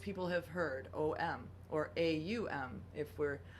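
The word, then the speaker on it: ॐ: have heard, OM, or AUM, if we're Aum, would be how it's pronounced in Sanskrit, the sacred language of yoga in India and Eastern tradition.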